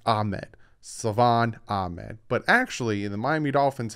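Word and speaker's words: Salvon Ahmed: i've been told constantly there's no c or k in his name stop calling him ahmed it's ahmed savan ahmed but actually the miami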